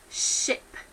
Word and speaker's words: ship: I have examples on those do sounds of words that sometimes get mispronounced so for example we have sheep and ship ok so a sheep